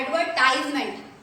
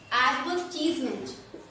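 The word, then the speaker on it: advertisement: ये क्या लिखा हुआ है, इसको बहुत से लोग बोलते हैं एडवर्टाइजमेंट। ओके, लेकिन ये गलत प्रोनाउंसिएशन है, इसको क्या पढ़ना है आपको, एडवर्टीजमेंट, एडवर्टीजमेंट, एडवर्टीजमेंट।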